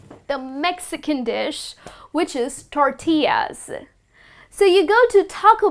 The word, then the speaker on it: tortillas: to pronounce it as tortillas but that's incorrect well this delicious mexican dish is pronounced as tortillas so i'll break it up for you it's tour tea yes okay that's the